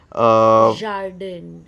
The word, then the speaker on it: jardin: Jardin, Akshay. It's Jardin, not Jardin. Jardin. Yes. Right, I really can't get my French pronunciations right.